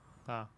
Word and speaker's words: Pavlyuchenko: It's Pavlyuchenko.